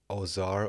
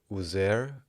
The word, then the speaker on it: Osiris: Osiris is pronounced as Ozar or Uzer.